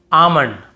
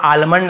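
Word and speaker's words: almond: एफ के एम इसके पहले एल हो तो हमें नहीं पढ़ना है जैसे काम बाम पाम और यहां पर आमंड बहुत से लोग आलमंड ऐसे बोल देते ब कालम बालम पाल्म नहीं होगा काम बाम पाम और आमंड ऐसे आलमंड आलमंड नहीं पढ़ेंगे ठीक है आमंड व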